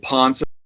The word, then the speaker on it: Ponce: I think the two surprise ones were Joe Ponce, that's how you pronounce him.